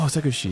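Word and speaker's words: セクシー: Oh, Sekushi.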